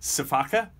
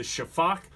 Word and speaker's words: sifaka: is the name looks like it should be pronounced sifaka but it's a Shafak and they're kind of the Masters of vertical